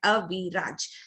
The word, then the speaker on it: Aviraj: That rhythm is there. Aviraj. So here he's got 3 syllables.